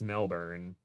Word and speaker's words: Melbourne: knee pads yeah oh how do you pronounce Melbourne Melbourne I think it's Melbourne Melvin I've been told because I said Melbourne the way that Americans would say Melbourne and everybody all the all the Aussies in chat were like